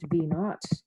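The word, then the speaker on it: v₀: VO is pronounced V naught, and it's often the beginning or the start.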